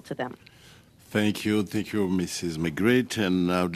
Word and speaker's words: McGrath: Miss McGraw or McGrath, I'm not sure how you pronounce that. There are some immigrants in Acadie who wouldn't know how to pronounce it. It's McGrath.